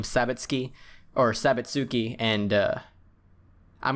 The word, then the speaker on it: Sabitsuki: Technically you're supposed to pronounce it like s key, but uh I I like pronouncing her name sabitski or sabatsuki.